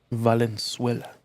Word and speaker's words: Valenzuela: Valenzuela. That's how you pronounce it. Different than the country of Venezuela, if you didn't know.